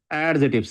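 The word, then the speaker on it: adjective: ऑल दी आर एडजेक्टिव्स एडजेक्टिव्स ए डी J stands for एडजेक्टिव always pronounce एडजेक्टिव एडजेक्टिव हुने सी silent एडजेक्टिव एडजेक्टिव मा degree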